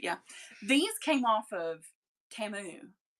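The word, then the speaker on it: Temu: These came off of Timu. Like Shamu. Remember the Super Bowl commercial when we were all really surprised that that's how you pronounce it?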